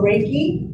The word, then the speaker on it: Reiki: So Reiki, like a rake, that's how we pronounce it, like a rake.